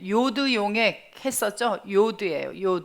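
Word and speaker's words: יוד: 하나 더 나가 봅니다 자 이건 요드 예요 요드 이음 발음이 납니다 그런데 이것도 이제 모음을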